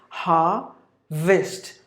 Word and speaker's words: harvest: Fine, if you go to UK way, it's harvest. Harvest. Only 2 syllables. You have to get the stress for the first syllable. Harvest. Harvest. But if you go to the American way, it is harvest. Harvest. Harvest.